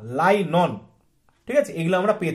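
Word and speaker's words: nylon: আর কৃত্রিম বলতে গেলে আমরা এগুলো কৃত্রিমভাবে পেয়ে থাকি, যেটাকে আমরা পলিয়েস্টার বলি, রেয়ন বলি, রাইলন বলি, লাইনন, ঠিক আছে, উচ্চারণটা কিন্তু রাইলন না, লাইনন, ঠিক আছে, এগুলো আমরা পেয়ে থাকি।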